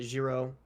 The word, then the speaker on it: Jiro: His name is Jiro. I'm not pronouncing that right.